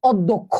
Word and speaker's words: অধ্যক্ষ: হবে বলতো এই পরের কথাটা দেখি এই দেখো অধ্যক্ষ দেখো শব্দের শুরুতে অ আছে সেটা ও হয়ে গেছে উচ্চারণের কারণে এই ধ টাকে আমরা কি করছি